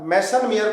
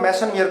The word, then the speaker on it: Meisenheimer: देखो एक बार ध्यान से, ठीक है, ये कार्बन आयन बोल दिया, इसको बोलते हैं बेटा मेसनमियर कॉम्प्लेक्स।